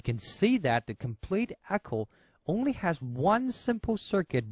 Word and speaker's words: ECO: may be wondering why we called it echo firstly as everybody know eccography is a sound technology like echo so we took the same pronunciation echo like echography for the easy memory